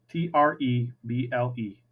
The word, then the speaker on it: treble: so there you go trouble is spelled te TR e BL e treble it's not trouble like you're getting in trouble it's treble like treble means high and this is bass